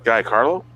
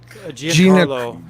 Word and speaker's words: Giancarlo: Guy, I'm having a hard time pronouncing that word. Guy Carlo. Giancarlo.